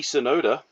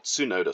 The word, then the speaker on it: Tsunoda: It's Yuki Tsunoda, or Tsunoda, sorry. Need to pronounce that one correctly.